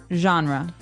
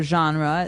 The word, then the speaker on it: genre: pronounced differently we say genre genre or genre this kind of sounds French is it French I think it comes from French uh it's a g word so genre it's a soft soft sound mhm and what's a